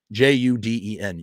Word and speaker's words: Juden: juden is the word german word for jew j-u-d-e-n juden that's how you pronounce it and you used to see that